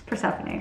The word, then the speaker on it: Persephone: I ended up Googling it to know the pronunciation because I didn't want to keep reading it as Persephone if it was not Persephone. Anyways, just so you know, it's Persephone.